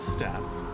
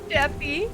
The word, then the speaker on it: steppe: Uh, according to Google's pronunciation guide, it is just step. Steppy.